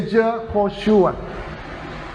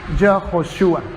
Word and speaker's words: Yehoshua: Por lo tanto, el nombre de Josué en hebreo se dice Yehoshua. Yehoshua. Yehoshua.